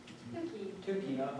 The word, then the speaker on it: Tukey: Unfortunately, is it pronounced Tukey? Tukey.